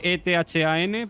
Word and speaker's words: Ethan: Se escribe E-T-H-A-N, pero se dice Ethan, porque a él le salen los cojones.